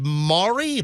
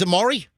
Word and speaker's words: Amari: go to is it Mari Mari is in loots hey Mari hi good morning how are you oh my pronouncing is Amari yes it is excellent